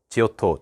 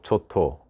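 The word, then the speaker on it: Giotto: 대해서 살펴볼 거에요 뭐 책에 따라서 지오토 라고 하고 좋더라고 도 하는데 그 발음에 유의 해주세요 지오토 조토 초토 초토 살 그랬네 여러분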